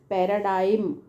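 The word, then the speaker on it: paradigm: maintenance rot okay next पैराडाइम बहुत important पैरा तो याद रहेगा आपको पैरा यह जो जी का साउंड इसमें साइलेंट है जी साइलेंट डाइम और यह डाई डिम नहीं पैरा डाइम ऐसे याद रखना राइट अब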